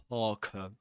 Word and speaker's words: parka: Parka, in Parker, again, the letter R is not pronounced because right after it comes a consonant sound.